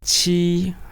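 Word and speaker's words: 七: 7 is qi. I think it's again very easy. 1 is e. 7 is qi. So very similar, very easy.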